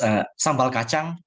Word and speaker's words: sambal kacang: Yes, so it pronounced sambal kacang.